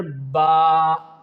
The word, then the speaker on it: ب: The letter baa, when both lips get close to each other, then you can pronounce the letter baa baa.